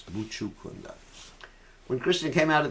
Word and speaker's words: Mucukunda: Some devotees pronounce it as Mucukunda. It's not Mucukunda, it's Mucukunda.